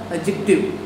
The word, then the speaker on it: adjective: देखिए इसकी प्रोनाउंसिएशन भी ध्यान से रखनी है, हमें ADJ दबाए डी साइलेंट रह जाता है, एडजेक्टिव, इसके राइट प्रोनाउंसिएशन सही उच्चारण क्या बनेगा, एडजेक्टिव, एडजेक्टिव।